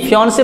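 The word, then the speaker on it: fiancé: देखिए स्पेलिंग देखिए FIANCE, फियांसे पढ़ेंगे इसको फियांसी पढ़ेंगे, इसको फियांसे।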